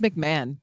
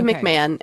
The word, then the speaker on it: McMahon: June 6 1982 uh there's a man named MC Mahone and that's probably not how you say it but that's how I'm saying I think it's McMahon McMahon how the I I